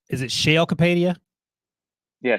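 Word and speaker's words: Sheil Kapadia: Okay, correct me if I'm wrong, Debo, because I'm terrible at pronouncing. Is it Shale Kapadia? Yeah, Shale Kapadia.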